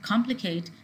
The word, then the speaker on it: complicate: on the second syllable, whereas in the verbs like complicate and indicate, the stress is coming on the prefix.